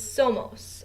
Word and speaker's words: somos: form and The Nosotros form of ser is somos s-o-m-o-s and somos means we are okay because